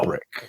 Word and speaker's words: Alberich: It's spelled Alberich, like Al B. Rich. But it's not pronounced that way. No. Alberich.